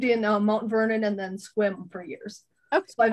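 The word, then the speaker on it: Sequim: My sister lived in Mount Vernon and then Squim for years. Okay. So I've actually been out there quite a bit. As evidenced by you pronouncing it Squim.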